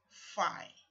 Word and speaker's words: Phi: take note of this this symbol here is in Greek letter pronounced Phi and spelt P H I this symbol here is